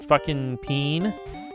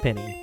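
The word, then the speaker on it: penne: some peen. I think it's actually pronounced penny, but I think pronouncing it peen is funnier.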